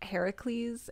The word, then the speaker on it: Heracles: yes yes definitely Hera's son because it's actually pronounced Heracles and it roughly translates for the glory of